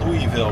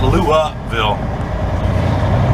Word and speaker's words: Louisville: So we're gonna make our way down to, and somebody said that I pronounced Louisville wrong. It's Louisville.